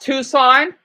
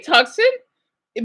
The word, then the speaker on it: Tucson: needy oh yeah yeah it's pronounced Tucson I mean you can't say tuxen but normally it's goes by Tucson so the score is